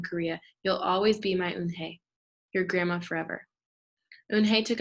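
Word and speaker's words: Unhei: turned to joey she nodded slowly yes it's pronounced un hey and it means grace mr kim added yoon he joey said slowly and this time perfectly it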